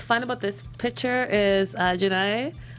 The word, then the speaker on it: Jaina: And what's fun about this picture is Janae. Am I always saying her name wrong? Jaina.